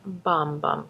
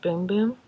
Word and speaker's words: bum bum: D janiro janiro Brazilian bum bum cream but actually I think in Brazil it's pronounced boom boom not really sure but we'll call it